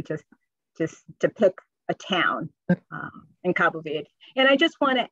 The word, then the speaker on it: Cabo Verde: when we reference Cape Verde. C-A-B-O? C-A-B-O. And V-E-R-D-E? Okay. And did I pronounce it right? Is it Cabo Verde or is it Verde? It's Verde. Okay. You can say Verde, but Cabo Verde.